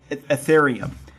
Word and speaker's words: Ethereum: technologies like Bitcoin and Ethereum. I always mispronounce that last currency, but Ethereum, there you go.